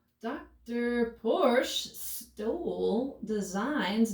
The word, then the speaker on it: Porsche: porsche guys i know the correct pronunciation is porsha but i'm from south texas like i've already said and how dr porsche stole designs not only